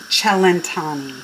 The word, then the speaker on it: cellentani: So, I Googled how to say the name because I saidani and it's chelantani.